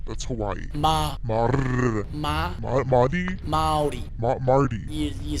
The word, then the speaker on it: Māori: Maori. Mardi. You say the rolled R like a D, so Maori.